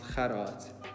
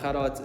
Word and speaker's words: Kharat: mentioned at the start my name is pronounced kharat but most people just call me because it's a lot easier to say obviously but yeah khadat is an afrikaans name that's why it might